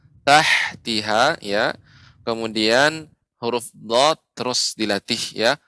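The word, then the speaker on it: ض: Tinggal mungkin Bapak untuk huruf dha ini harus lebih dilatih lagi pengucapannya. Jadi dia huruf dha kedua sisi lidah menempel di gigi geraham atas. Dha. Sehingga tidak bukan hanya ujung. Kalau ujung maka do.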